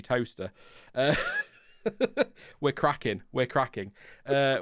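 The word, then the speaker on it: Towcester: it's like uh toaster it's spelled toe sister but it is actually toaster we're cracking we're cracking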